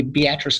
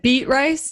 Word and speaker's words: Beatrice: i got started so me and uh the beatrice guy jason kapke became partners and um i